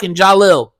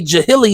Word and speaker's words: Jalil: that my name has been butchered my entire life I got trophies that say Jilly on there and and Jill like just I got all types of up butchered ass trophies and but all in